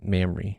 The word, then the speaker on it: Mamre: How do you pronounce? Mamre. Okay, so it is Mamre.